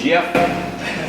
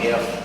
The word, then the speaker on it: Geoff: My name is Jeff. Still a J sound at the beginning. I spell it with a G. Geoff.